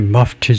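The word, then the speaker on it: mufti: 머프티 머프티 정도로 할 거 같은데. 에, 발음이 머프티 정도네.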